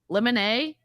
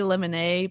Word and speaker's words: limine: Well, okay, limine or limine. There's like different pronunciations. I'm going to say limine, but in Texas, I think it's pronounced limine.